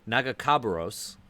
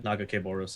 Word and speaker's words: Nagakabouros: A god often Nagakabouros, I think, is what Nagakabouros. I think that's the way they pronounce it in the like game, or that's the way specifically Alawi pronounces it.